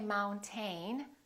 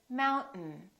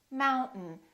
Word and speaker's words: mountain: We don't say mountain, we say mountain, mountain. This syllable is stressed, therefore the second syllable is reduced and the vowel disappears.